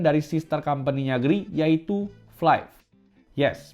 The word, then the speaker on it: Flife: Dan sebelumnya perkenalkan dulu nih sebuah brand dari sister company-nya GR yaitu Flive. Yes, bacanya ini Fli ya guys. Bukan Fli apalagi Flive itu udah ngacau banget.